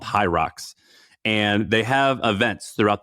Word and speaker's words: Hyrox: but Google Hi- I I think you pronounce it Hyrox.